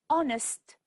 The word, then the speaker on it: honest: B is silent and honest the H is silent that's all for today